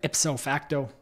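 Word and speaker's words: ipso facto: to be the next liberal leader and then ipof facto that's how you say it prime minister of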